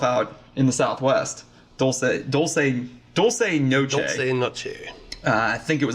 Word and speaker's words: Noche Dulce: Noche Dulce.